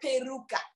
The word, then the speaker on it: peruca: no is it personal there's another country that calls it pay Luca with an l so every now and then we get those natives say no you're saying it wrong I said nah you need to Google it for the Portuguese people call it peruca and so we get